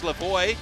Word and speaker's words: LaVoy: been uh told that the correct pronunciation of her name is Lavoy my apologies entire LaVoy